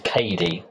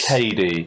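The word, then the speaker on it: Cady: thought Katie turns out no her name is Katie oh it is Katie c a d y that's actually her name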